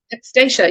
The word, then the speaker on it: Stacia: Am I still saying your name wrong? Stacia, you said it right.